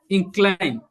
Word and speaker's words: incline: Incline, incline, No, incline. no. The first one. That's not good. You just pronounce the second one, not the first one.